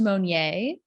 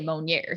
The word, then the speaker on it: Monnier: it french or so i believe it's actually pronounced monye but my family um my grandpa grew up in nebraska so they say monger they add a little you know a little twang to it so i'm